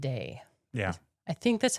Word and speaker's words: Sidhe: He tells Cuchulainn that he is his father from the Sidhe. Sidhe. Yeah. I think that's how you say it. It's usually pronounced the Sidhe. Sidhe.